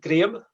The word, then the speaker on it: Graham: So we pronounce it Graham. Graham. So like the color grey ham, but Graham.